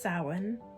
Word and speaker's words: Samhain: do something on samhain i know it's spelled some hain but it's pronounced sawin and try to